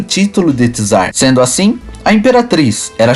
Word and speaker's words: czar: tratar É sobre o termo que usar que pronuncia-se tzar foi usado por muito tempo como um título